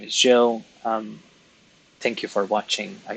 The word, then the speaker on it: Gilles: uh, oh, it's not Giles. It's Gilles. But in Maltese, it would be Jill. Because we don't have any soft letters. We emphasize on consonants.